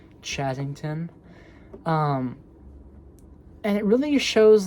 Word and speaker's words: Chazington: It's spelled uh C H A Z I N G T O N. Chazzington.